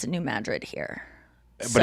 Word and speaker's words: New Madrid: I wanted to say New Madrid, but no, we pronounce it New Madrid here.